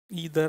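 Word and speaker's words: either: ईदर आइदर जो भी आप प्रोनाउंस करें।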